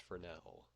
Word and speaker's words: Fresnel: effect so we are going to make a Fresno even though it's pronounced for now and this power thing controls kind of how